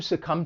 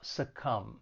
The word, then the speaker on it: succumb: When pronouncing this verb, it has 2 syllables and the stress is on that second syllable, succumb. And just keep in mind there is a silent B at the end of the verb, to succumb.